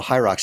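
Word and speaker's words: HYROX: in uh Chicago in February so wait so high rocks how do you spell it h-y-r-o-x okay you're gonna you're gonna get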